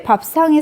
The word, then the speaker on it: 밥상: 자, 밥상에서의 쌍은, 자, 얘는 왜 밥상이 쌍이라고 발음이 됐어? 그치? 된소리 되기죠.